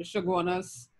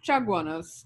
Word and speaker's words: Chaguanas: Notice all of our names like Chagaramas and Chaguanas, and even like El Tukush, that CH would be pronounced like CH in Spanish. So Chaguaramas, Chaguanas, and El Tukuche would